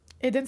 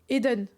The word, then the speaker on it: Eden: Eden, c'est sans accent. Eden. Pas Eden. Eden. Du coup. Depuis le début, je dis de la merde, c'est ça? Comment on prononce? Je peux pas partir sans savoir. Non, je sais pas d'accent, mais ça se prononce comme ça.